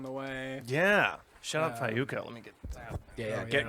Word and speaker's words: Fayuca: Fayuca. FAYUCA. See, I'm glad you were in the band and didn't know. Dude. It's the YU. You're like, wait a second, did I say that right?